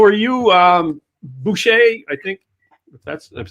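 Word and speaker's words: boozhoo: i am doing well how are you um boucher i think that's i've said it right for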